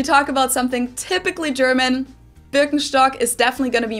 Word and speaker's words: Birkenstock: So English speakers usually say Birkenstock. In German, we say Birkenstock. Birkenstock. Birkenstock, which literally translates to birch stick.